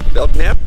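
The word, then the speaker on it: Belknap: guys pull in the belt nap belnap yeah I think that's how you pronounce it oh think it's an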